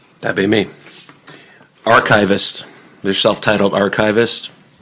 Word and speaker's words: Archavist: Archivist.